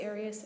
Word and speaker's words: Arias: we're talking here um your name has been pronounced in most of this trial areas is there another way of pronouncing it if you always pronounced at Aras I've heard it pronounced about seven different ways um I say Aras as does the rest of my family okay well let's back